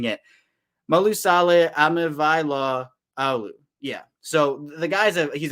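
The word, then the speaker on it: Malaesala Aumavae-Laulu: Malusala Alimulalu is the guy here. Or no, I said it wrong. It's my first time pronouncing it. Malusale Amivaila Alu.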